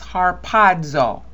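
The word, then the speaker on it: ἁρπάζω: Okay, so this is harpazo.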